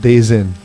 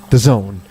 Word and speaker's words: DAZN: So it's not pronounced Days In. The Zone.